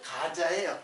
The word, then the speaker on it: 가자: 그 사도행전에는 가사라고 되는데 발음은 가자예요. 가자.